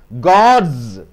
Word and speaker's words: gods: worms next D process is equal to it's God's gods gods rods rods SWAT plus yes swords